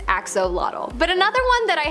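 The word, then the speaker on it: axolotl: the Axel there is much speculation as to how to pronounce the name of this creature but for the most part most people believe that it is axolot but another one that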